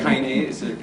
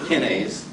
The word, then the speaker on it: kinase: And kinase, or kinase, depending upon, you know, if you mispronounce it like I do, it's kinase, but kinase is K-I-N-A-S-E.